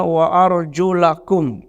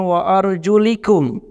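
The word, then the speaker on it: أرجلكم: Jumhur ulama membacanya wa arjulakum. Sebahagian qiraah membacanya wa arjulikum. Yang pertama dengan memfathahkan lam, wa arjulakum, lakum. Yang kedua ada yang membacanya wa arjulikum.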